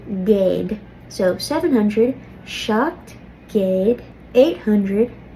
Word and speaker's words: géad: So when we eclipse céad, it turns to géad.